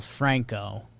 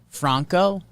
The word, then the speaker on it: Franco: this wander talking about wander last name is pronounced like michael franco franco okay so i think we figured it bronco